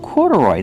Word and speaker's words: corduroy: Corduroy, that's right. These are corduroy shorts. Pronunciation, corduroy. Put the stress on the first and third syllable.